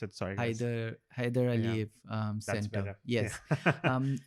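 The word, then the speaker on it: Heydar Aliyev: how to pronounce it. Sorry. guys. Haydar Aliyev That's Center.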